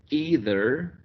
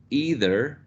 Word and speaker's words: either: But in General American, we have only a monophthong, either, either, with the corresponding rhoticity here, right? Either, and in received pronunciation, either, okay, either, without the rhoticity feature, okay?